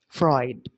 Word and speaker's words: Freud: then sigmon Freud so I mispronounced the surname of Freud yesterday so I mentioned it as food but it was it would be Freud so on the erican